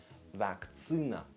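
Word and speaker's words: вакцина: So vaccine in Russian would be vaktsina, vaktsina. All right, that's unexpectedly happened. Yes, vaccine, so there's double C here, and that's when it changes. So it changes to vaktsina, vaktsina.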